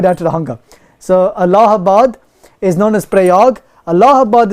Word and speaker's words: Allahabad: Allahabad. I keep getting cussed for that. I told you, man. Don't song with me, man. So I'll put it down to the hunger. So Allahabad is known as Prayag.